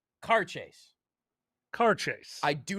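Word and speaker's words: Càirdeas: Now that middle word there, I am told, is pronounced with a Scottish accent, car chase.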